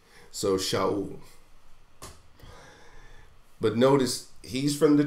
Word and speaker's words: Shaul: reading classical Hebrew I I pronounce where I see a shin is sh so shall but notice he's from